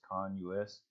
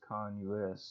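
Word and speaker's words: CONUS: then you don't use to the concentration but I really think this is con Lluis based on this right here I think it stands for continental US so I think the proper way to say this is con us and since that's the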